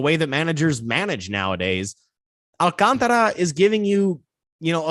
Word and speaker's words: Alcantara: marlin's pitcher sandy alcantara that's how you actually say his name alcantara not the not the white americanized version alcantara it's alcantara but uh you know it's